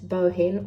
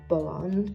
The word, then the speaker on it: Bohin: brands are DMC and bohin or bow on depending on your preferred pronunciation when I go traveling